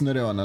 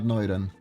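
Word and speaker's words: Nureonna: It's Nureona, not Noiran.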